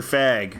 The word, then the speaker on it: Phagg: Oh, it's because of its inventor Chester Fag. Uh-huh. This is spelled Phagg. Oh, okay. Yeah, Chester Fag.